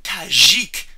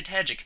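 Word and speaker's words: Tajic: card you'll agree son this is tajik as i like to pronounce his name some people say tagic they're dumb i read the fluff i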